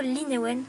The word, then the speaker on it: Linaewen: Alors pour commencer, déjà son prénom c'est Linewen, donc ça s'écrit comme ça, mais je dis plutôt Linewen, enfin je pense que ça va comme ça avec le A et le E.